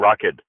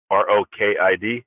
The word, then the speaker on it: Rokid: So it's, I think it originally comes from a combination of the two words robot and kid, because we're trying to